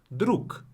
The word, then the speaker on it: друг: Друг.